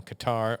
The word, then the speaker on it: Qatar: And the big story of the week is Donald Trump's free plane from Qatar orQatar depending on how you want to pronounce it.